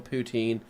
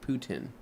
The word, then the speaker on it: poutine: Alex says, oddly enough, Costco cafeteria situation has unreal poutine. Pronunciation is like Putin. There you go. Huh. Like Putin? Putin? Like you're pouting your eyes out.